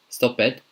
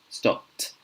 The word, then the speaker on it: stopped: this one I thought I've heard it being pronounced stop bed stop bed or what Jed or finish ed no this one is pronounced stopped stopped promised promised watched finished through you weird